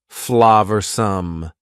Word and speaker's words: flavorsome: and full of flavor notice the pronunciation two schah sounds there Flav some the sauce proved incredibly